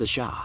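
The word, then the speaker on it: Ш: The symbol after the question mark is a cerillic letter pronounced a sha.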